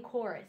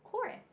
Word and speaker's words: chorus: have the C in chorus so we've seen a CH before and it said CH and church this one says C the H is silent you only hear the C Sound CK in chorus so we have a